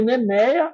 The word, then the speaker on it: NMEA: rede do barco é uma rede nemeia em geral nemia 2000 nemeia 2K como se fala e e através desse